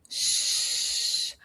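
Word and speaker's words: ш: Sh. Like "shrimp". "Shrimp". Sh. Like in the word "shoes". Sh, sh, sh, "shoes".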